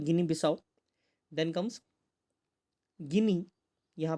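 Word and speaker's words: Guinea-Bissau: Then comes गिनी बिसाओ, ठीक है, इसको प्रोनाउंस किया जाता है गिनी बिसाओ।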